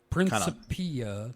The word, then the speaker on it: Principia: Principia. Yeah, so stress on the third syllable. Principia. You say it like Italian.